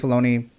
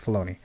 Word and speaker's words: Filoni: So Dave Filoni, that's how you pronounce the last name, right? Filoni?